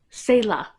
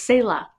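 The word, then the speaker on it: Céla: So, Selah. That's what it is. It was Selah because it's not Sela because there's an accent mark over the E, so that makes it a long A sound.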